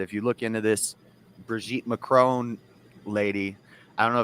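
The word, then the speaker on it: Brigitte: bridg Bridget mcon Brig I think it's pronounced brigit but it's spelled like Bridget just put in a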